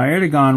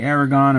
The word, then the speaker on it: Erdogan: Now, Erdogan was there from Egypt, and I don't know if you say Aragon or Erdogan. I call it Erdogan. That's how it's spelled.